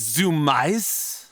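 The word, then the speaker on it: Zumiez: wrong the whole time it's Zoom ice it is spelled Purdue z-u-m-i-e-z if I recall correctly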